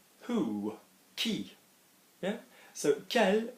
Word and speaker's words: quel: So quel will always be as if it's Kelly, K-E-L, but it's quel.